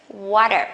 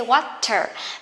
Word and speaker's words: water: can link them together water you can say water but T that is not stress you can pronounce as the soft the okay water what are you you